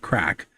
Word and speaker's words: craic: Uh, Crack in the World is a story that is um, well, it's spelled C R A I C, like the Irish word crack.